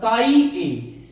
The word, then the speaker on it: chi: दिखने में ये एक्स जैसा होता है, आप एक्स पढ़ सकते हैं, लेकिन इसका सही प्रोनाउंसिएशन जो है वो काई है, CHI, काई है।